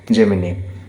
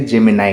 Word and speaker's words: Gemini: मध्य रही थाई पारे जेमिनी किंबा किछि लोग प्रोनाउंस करंती जेमिनाई कहि कि मध्य तो